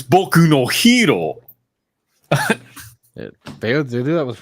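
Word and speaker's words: 僕のヒーロー: yeah the weebs yeah same weebs who called my hero Academia Boko hero Academia oh oh God you mean b actually it's bokuno hero they they do that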